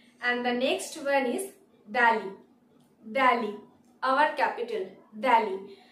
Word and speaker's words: Delhi: And the next one is Delhi, Delhi, our capital, Delhi. আমরা কিন্তু বলবো না দিল্লি, আমরা বলবো Delhi, Delhi.